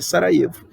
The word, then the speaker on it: Sarajevo: visitar a cidade de Sarajevo. se escreve Sarajevo, mas se lê Sarajevo, tá?